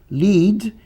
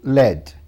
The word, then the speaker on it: lead: O primeiro grupo são palavras que têm duas pronúncias, dependendo da classe gramatical delas. Aqui eu tenho o verbo lead, substantivo led.